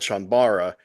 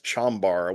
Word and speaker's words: chanbara: is that you know these movies are called chanbara but a lot of westerners including myself you know first heard them as chambar which was a Mis mispronunciation but so it became kind